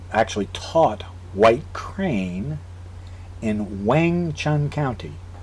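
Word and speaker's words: Weng Chun: who studied or actually taught white crane in Wang Chun County not Wing w-i-n-g as as westerners would spell it but w-e-n-g as westerners would spell it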